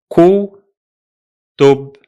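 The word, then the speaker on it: كُتُب: So the two syllables of this word are ku, tub, ku, tub.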